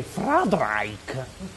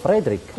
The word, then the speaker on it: Frederick: Allora si dice anche Friedrich. No, dico Frederick. Perché non dice Friedrich Frankenstein? Ma perché non lo è? È Frederick Frankenstein.